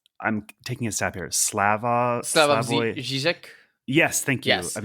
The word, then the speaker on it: Slavoj Žižek: I think he's Slovenian, and his name is, I'm taking a stab here, Slavoj Žižek.